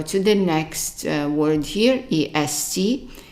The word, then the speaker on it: est: And then we go to the next word here, est. Est is pronounced as an A when it means is.